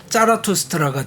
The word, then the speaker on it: 짜라투스트라: 이제 창립자이자 뭐 선지자이자 뭐 이 사람을 그때 발음으로 하면 짜라투스트라가 되는 거고.